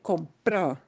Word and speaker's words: compró: Pero, ok, fíjate, notice, mi sobrina me compró, not me compro. Me compro means something very different than me compró. Okay. So how you say that one is particularly important, right? It's the emphasis on the syllable.